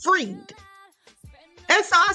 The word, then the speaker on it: Fried: So listen, she leaves me a comment saying Sam Bankman-Fried is pronounced freed.